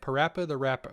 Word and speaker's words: PaRappa the Rapper: the rapper the how do you say it parappa the rapper i can't say it the rapper yeah yes